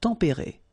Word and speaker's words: tempéré: Final S not pronounced, but then you should definitely pronounce the accent.